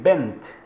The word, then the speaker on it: bent: Jadi Y bent, U bent, ya. Jadi T-nya harus dikentarakan dalam pengucapan teman-teman.